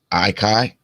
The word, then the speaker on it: Ahky: It's pronounced Sid's Icon. Ahky?